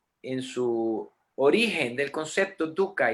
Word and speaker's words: dukkha: Sufrimiento en sánscrito es dukkha. D-U, se escribe H-K-H-A. La pronunciación correcta sería dukkha, porque esa H es sonora, dukkha.